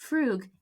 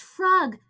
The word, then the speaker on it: frug: mispronouncing the word f-r-u-g frug however in the context of sweet charity it is actually pronounced frog the way you pronounced it and not frug you were right Jess